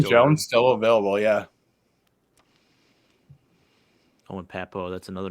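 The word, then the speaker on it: Pappoe: Owen Papo.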